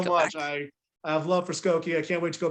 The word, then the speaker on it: Skokie: thank you i hope you get back to skokie is that how you say it yes goku